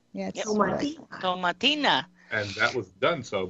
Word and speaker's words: Tomatina: The Tomatina Festival Quest, that runs for another week. We have to ask Beatrice. What's the correct pronunciation? Tomatina. Yes. Yep. Tomatina.